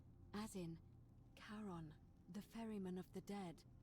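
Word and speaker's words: Charon: it's just as you described it only your pronunciation is a little off the name you heard wasn't Karen it was c h a r o n as in Kon the Fairman of the Dead Kon who in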